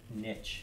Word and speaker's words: niche: And my niche is that I'm a It's pronounced niche.